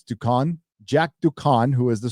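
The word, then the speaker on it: Duquesne: I knew who Jack Ducan's, I can't even pronounce his last name. It's Ducan.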